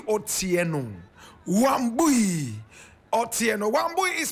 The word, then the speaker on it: Otieno: Her name, Wambui Otieno. Wambui Otieno. Wambui is spelled W-A-M-B-U-I.